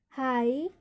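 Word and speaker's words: high: Rule क्या कहता है हमारा, जब I और EI हो स्पेलिंग में, उसके तुरंत बाद क्या हो, GH हो, तो वहाँ पर GH का उच्चारण नहीं किया जाता है।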